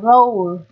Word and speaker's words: roll: Cái chữ O này được phát âm là âm O. Là nguyên âm đôi các bạn nhé. Nguyên âm đôi này, đây là âm là bao gồm âm Ơ và âm U.